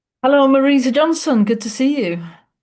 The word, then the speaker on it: Marisa: But I get called anything from Marissa to Melissa to Marcia. Take your pick. And it's lovely to hear you saying my name as it's meant to be said.